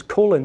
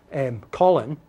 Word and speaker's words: Colin: Powell's name correct, and his name is Colin, not Colin, okay, yet it's written